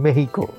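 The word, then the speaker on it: México: আপনারা যারা একদম সহি ভাষা শিখে অনুবাদ করেন, যেমন আপনি বলেন কুবা, আমাদের সাধারণ মানুষ তো কিউবা চেনে, আপনারা বলেন মেহিকো, আমরা মেক্সিকো বলতেই কমফোর্টেবল হয়ে যায়।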